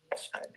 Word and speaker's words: Sade: Is it Shida? How you pronounce her name? Sade too. The same Sade. Sade.